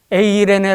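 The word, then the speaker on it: εἰρήνη: 27 절에 있는 말씀입니다 평안 이라는 단어는 헬라어로 에이레네 라고 읽습니다 전쟁의 위협이 없는 이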